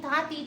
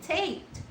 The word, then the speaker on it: Tate: your last name, and then I just type the word state, drop the letter state, drop the letter s. So how you pronounce that without s? It is Tate, right?